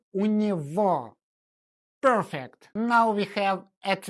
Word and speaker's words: у него: We write it with the letter G, but we pronounce it as sound V. Say with me, у него.